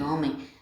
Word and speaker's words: homem: A gente sabe que homem, o H não tem som, o H é mudo, então homem começa com H.